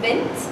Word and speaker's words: VINT: Right now I run a company named VINT. VINT is spelled mint, but with a V to get a good understanding.